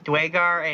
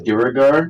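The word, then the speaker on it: duergar: Is that the same like as Duragar? That is, he pronounces it differently, but yes.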